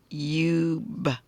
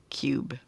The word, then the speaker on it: cube: Yeah, you got to put that silent E at the end. So this could change. So now it's cube, cube.